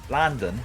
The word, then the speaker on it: London: Landon.